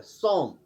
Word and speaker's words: psalm: इसी तरह PSALM, इसमें पी साइलेंट रहता है, एल साइलेंट रहता है, सॉम, जिसे हम कहते हैं हमदोसना।